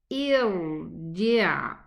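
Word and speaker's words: ارْجِعْ: I will pronounce hamzatul wasli. And I'm gonna pronounce it with a hamza kasra. Irji'.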